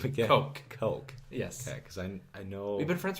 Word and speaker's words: Koch: yeah my friend Curtis coke like some people pronounce it cook I know it's it's a weird spelling hatch Koch coach if